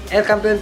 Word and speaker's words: El Campeon: El Campeon Pigeon Feeds, yun ang tamang pronunciation mga kalapati.